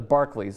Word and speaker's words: Barclays: seems only reasonable at the Barclays the barklay I believe is how it's pronounced in Brooklyn he's going to fight